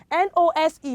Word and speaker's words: nose: we pronounce those children nose good now we said earlier that uh letter e makes the vowel nearest to it close to it to what to say its name this is letter e